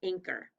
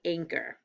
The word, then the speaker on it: anchor: did you find anchor the ch sounds like a k anchor what is it spelled with at the end o r what does it sound like er anchor all right there's one